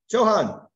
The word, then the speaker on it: Johan: no going once twice the H is silent Johan see got it all